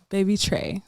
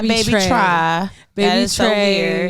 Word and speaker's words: Baby Tra: is hi baby Trey that's how you pronounce it right yes baby Trey not baby try weird come on now